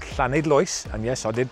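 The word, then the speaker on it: Llanidloes: in mid wales just outside a place called clan idloyce and yes i did pronounce that correctly and this is flynn cluedog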